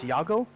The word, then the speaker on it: Iago: that number 34 forward it's pronounced yago like a one yaago noguera yago no guerra they're like if you say no getta it it'd be like no geta g-e-t-t-e-a it would be the same okay right now he's